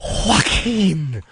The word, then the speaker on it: Joaquin: Oh, Joaquin. Oh. Anybody with a silent J in the beginning of their name Joaquin.